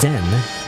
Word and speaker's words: Zen: Is it Zine or Zine? I always forget. Zen maybe? Zen? It's Zen, the dragon, or the black dragon rather.